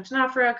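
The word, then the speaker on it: Ctenophora: They don't both sound like they start with a C, but they both are spelled with a C beginning. So Tenophora, comb jellies, one way to remember it.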